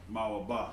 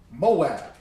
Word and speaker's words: Moab: of moab all right moab how do you say that in um hebrew it's like uh mawa it's not moab okay and moab is